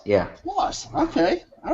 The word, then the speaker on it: Schloss: Schloss, yeah. Schloss, okay.